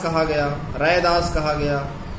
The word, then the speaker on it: रैदास: ऐसे इनके नाम का उच्चारण में भिन्नता जगह जगह प्रकट होता है। लोक प्रचलन और सुविधा की दृष्टि से उनका मूल नाम रैदास ही स्वीकार किया गया। मूल नाम उनका रैदास ही है।